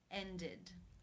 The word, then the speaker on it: ended: And In the infinitive, the final sound is the d sound. Therefore, it is case 3, ended, where the ed is pronounced with the I as in sit and the d sound.